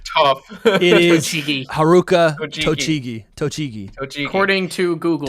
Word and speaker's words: Tochigi: Tochigi. According to Google, Tochigi. that is how you pronounce it.